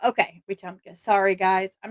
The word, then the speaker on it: Wetumpka: It's pronounced Let's see. It's Wetumpka. Okay, Wetumpka.